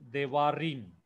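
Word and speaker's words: דברים: So devarim, there are three syllable.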